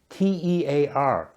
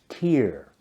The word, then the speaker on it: tear: For example, the word tear, T-E-A-R, can mean a drop of water from your eye, pronounced like tear, or it can mean to rip something apart, pronounced like tear.